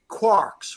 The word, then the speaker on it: quark: So they say, quart, and maybe it might be pronounced quart. It might be pronounced in the Irish accent 3 quarks for Muster Mark, or 3 quarks for Muster.